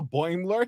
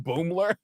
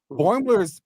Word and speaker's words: Boimler: And But then when Riker came and saw Boimler, he called him Boomler.